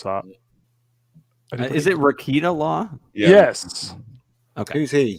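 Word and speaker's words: Rekieta Law: I can't pronounce that. Is it Rakita Law?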